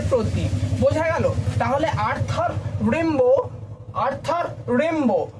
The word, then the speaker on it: Rimbaud: বোঝা গেল তাহলে আর্থার রেম্বো আর্থার রেম্বো ডিটা উচ্চারণ হবে না এবার অনেকে রয়েছে বেশ